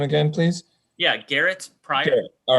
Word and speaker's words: Garet Prior: Can you tell me your pronunciation of your name again, please? Yeah, Garrett Pryor.